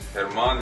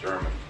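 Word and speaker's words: Germán: It's actually Herman in Spanish, but in English it's actually pronounced as German.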